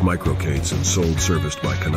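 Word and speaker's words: MicroK8s: kubernets environments such as micro K8 pronounced micro Kates and sold serviced by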